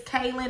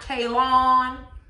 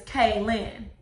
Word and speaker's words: Kailyn: good girlfriend's name wrong is kaelin and not k lon how antoinette has been pronouncing it see me thinks that